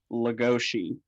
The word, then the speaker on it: Legoshi: But apparently, in the country that Bela Lugosi is from, his name is pronounced Legoshi, and that's also in Japan.